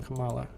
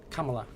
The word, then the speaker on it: Kamala: out she's married Bro too so like some Kamala Kamala Kamala not Kamala I'm trying to fix it so that I pronounce it correctly but like I said I